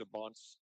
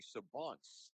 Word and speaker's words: Sabance: And by the way, I've been pronouncing our quarterback's last name as Saban. I just learned tonight it's actually Sabance, um, as if there's an E on the end. I believe it's a French name.